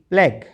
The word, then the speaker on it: plague: किसी भी शब्द के अंत में आए हुए GUE में भी यू का उच्चारण नहीं होता, ठीक है। यू बिल्कुल साइलेंट रहता है।